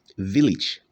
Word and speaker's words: village: The word is pronounced village. Village. Okay, not village, but village.